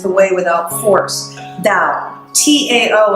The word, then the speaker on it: Tao: T-A-O in English, pronounced D, like a D, Tao.